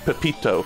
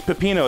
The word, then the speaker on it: Pepino: Where he, like, said Pepito, Pepito, Pepito, when he was playing Pizza Tower. And people kept going, no, it's Pepino, it's Pepino.